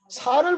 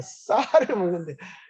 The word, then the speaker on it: 쌀: 대구 사람들은 쌀을 잘 발음을 못하죠. 살을 먹는데 살이 된다고 해요. 살을 먹는 게 아니고 쌀을 먹는데 살이 살살 되죠.